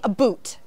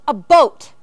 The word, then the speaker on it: about: but I'm not sure they were teasing me and saying that I was saying a boot I was not saying a boot the proper way to say it is a boat the way I talk